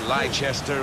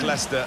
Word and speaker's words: Leicester: of the world try to learn how to pronounce their names. Lester. Lchester. We got a lot of that, didn't we? But very much Leicester and very much the leaders.